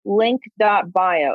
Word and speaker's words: lnk.bio: So number 6 is a website called link.bio, and it's spelled like LNK.bio.